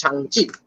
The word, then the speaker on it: Shang-Chi: in fact, pronunciation our problem হচ্ছিল because I wasn't really sure how to pronounce Shang-Chi, but apparently it's pronounced Shang-Chi.